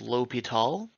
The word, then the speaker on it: l'Hôpital: looking like l'hospital's rule there they would both be pronounced l'hopital but two different spellings so if you see it the other way at some point they're both accepted and so what is